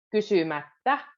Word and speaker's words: kysymättä: Kysymättä. Double T. Kysymättä.